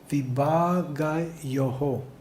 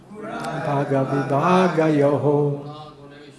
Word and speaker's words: विभागयोः: the pronunciation would be vibhāgayoḥ. Is correct? Vibhāgayoḥ. Okay? Let's try it again. Tattva-vit mahā-bāho. Guṇa-karma-vibhāgayoḥ. Now some are saying yo, and some are saying yoho. So which is correct? Yoho.